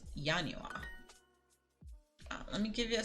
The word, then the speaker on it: Januar: einstian who is there and January shocker is yanua let me give you